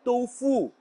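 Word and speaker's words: 豆腐: Je ne sais pas quel français a initié la prononciation de Tofu. Pourtant, c'est bien Tofu. Le U en pinyin se prononce comme OU en français.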